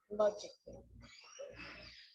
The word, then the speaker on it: logically: Now, the letter A can be silent, especially in words that end in A-L-L-Y, like these. Romantically, musically, logically. So I'm not pronouncing romantically, musically, and logically. Cut the A out. Get rid of it.